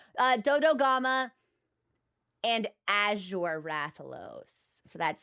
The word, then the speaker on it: Dodogama: I want to say it like Doshaguma, which is not right. Dodogama and Azure Rathalos.